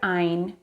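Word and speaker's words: עין: The letter Ein, pronounced like this, makes the same sound as the letter A in English, same sound as the letter Aleph in Hebrew. It makes an A sound.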